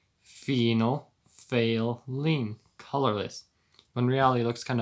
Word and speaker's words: phenolphthalein: chemical formula thing phenolphthalein pronounced phenol like a female penile like phenol failing like it you just failed to test except i'm failing my school and then fail lean which is phenol fail lean colorless when reality looks